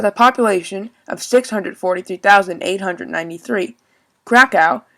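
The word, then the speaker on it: Kraków: krakow pronounced krakov in polish has a population of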